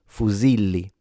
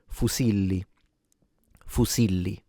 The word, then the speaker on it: fusilli: So it will sound fusili fusili. So at the end of the day while for standard Italian it is more correct to pronounce it as a z both are used in Italy.